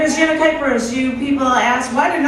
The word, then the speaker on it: Kuypers: Hi, my name is Janet Kuypers.